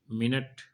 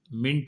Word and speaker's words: मिनट: पंजाबी में है परंतु मिनट मिंट बोल रहे हैं यह भी पंजाबी में है मिंट उसके उपरांत है व्याकरण